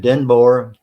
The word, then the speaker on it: Denboer: And so David Denboer, DENBOER. Did I pronounce that right? Yeah, it is. It's like Boer, but like with an E.